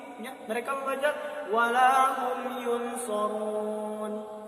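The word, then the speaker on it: ينصرون: Mereka membaca wala hum yunsarun. Padahal hukum tajwid di sini adalah hukum ikhfa hakiki yang harus dibaca samar-samar. Ya. Bacanya wala hum yunsarun.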